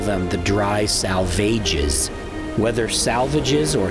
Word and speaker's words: Salvages: Eliot poem by the same name, where they were made to rhyme with assuages. As a result, many people today still call them the Dry Salvages. Whether salvages or salvages, these rocks likely got